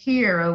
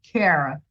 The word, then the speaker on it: Kera: say wrong you say kira which people a lot of people do call me that but it's kara carol yeah era with a k oh i'm sorry but